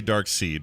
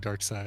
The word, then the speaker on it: Darkseid: i always say darts i always say dark seed but it's pronounced side anyway dark seed dark side uh but he uh